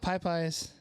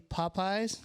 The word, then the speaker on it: Popeyes: Even though it's technically Popeyes. Correct. But I say it like with eyes.